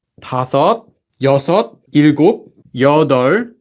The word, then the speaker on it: 여덟: So the number for 1 to 10, 하나, 둘, 셋, 넷, 다섯, 여섯, 일곱, 여덟. This one's 여덟, not 여덟. Although the 비읍 is there, they don't pronounce the 비읍.